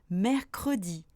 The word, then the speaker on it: mercredi: Mais attention, pour certains mots dont la prononciation ne serait pas possible sans le E, même à partir de la deuxième syllabe, je dois le prononcer. Par exemple, mercredi ou vendredi.